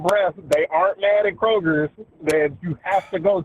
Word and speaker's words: Kroger: First, there's no S in Kroger. Secondly, I believe I said it right. You put an S on there, and There is Kroger. It's Kroger, and it vexed me.